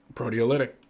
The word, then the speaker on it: proteolytic: Proteolytic.